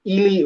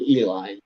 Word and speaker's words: Ely: Highway 93 goes south from West Wendover, and it goes to Ely, either Ely or Eli. It's Ely. Jennifer might know the correct pronunciation. But 93 goes down to Ely, and then it crosses 50.